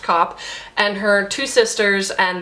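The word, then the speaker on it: Kopp: a woman named Constance cop yes really it's felt K OPP but yes really it's pronounced cop and her two sisters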